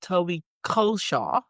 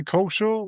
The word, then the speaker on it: Culshaw: So I'm excited to have Toby Culshaw. Did I pronounce that rightly? You pronounced it very well, better than I do, in actual fact. I say it wrongly. So I say Culshaw, which is the wrong way of saying it.